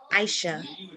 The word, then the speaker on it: Aisha: says rename nope but the sound is a long e no it's i aisha aisha oh good okay